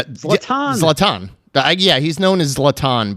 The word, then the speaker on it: Zlatan: Uh, uh, I'm going to butcher this name, but uh, Zalatin Ibra Ibra Ibraimovic. Boy, that sounds like a set. Latan that Zlatan.